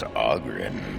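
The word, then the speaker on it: Oghren: The name's Auggrin, by the way, but the ladies pronounce it Aren.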